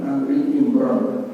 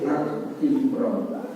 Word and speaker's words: Ali Imran: Pembacanya Ali Imran bukan Al Imran.